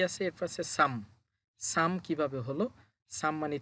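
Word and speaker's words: 삼: তাহলে উচ্চারণ হবে শুধু ই। ই মানে হচ্ছে ২। এরপরে কি আছে? এরপর আছে সাম।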